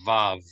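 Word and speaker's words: וו: And waw is the correct pronunciation of the name of this letter in proper Hebrew. In modern Hebrew, in the popular pronunciation, it's V, like the word very, like it's very good. So most people, they'll pronounce this vav, but what you said is actually more correct, wall. And we should try to learn both if possible. So okay, you can pronounce this as what or v.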